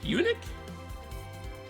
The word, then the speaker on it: eunuch: Or is that are you trying to say Unich? Or is it pronounced Unich? Eunuch? The second one you said?